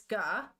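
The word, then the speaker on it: が: The G is always pronounced as a hard G. Don't be tempted to pronounce it like a J.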